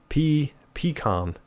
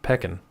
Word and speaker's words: pecan: Pecan. There's pecan, pecan, and peckin. Nobody says peckin.